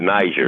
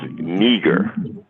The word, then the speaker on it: Niger: how that pronunciation was it was not Niger it was neger okay just like I